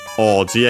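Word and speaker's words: 王子: Oji again. I don't think I mentioned the accent of oji. Chinese compound. Accent on the first mora. Yes. So yeah. Like the second most common accent for those.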